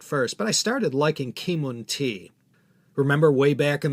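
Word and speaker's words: Keemun: the china domestic market kimon or k moon was cantonese for chiman a city in anhui province near the gorgeous granite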